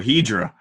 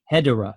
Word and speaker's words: Hedorah: But it is spelled Hedorah, which is very good. If you were to enunciate his name, it is Hedorah.